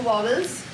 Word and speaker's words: vowels: to this idea of but that's the correct pronunciation so we'll try to say balls i know you'll come back to vowels but try vowels yes how many which ones